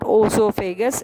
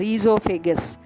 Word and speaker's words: esophagus: It is not oesophagus, it is esophagus.